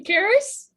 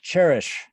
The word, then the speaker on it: Karis: Are you Karis? It's pronounced cherish.